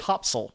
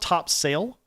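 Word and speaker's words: Topsail: We beat you guys went to We went to North Carolina, North Topsil, which is spelled top sale, but they insist on pronouncing it tops.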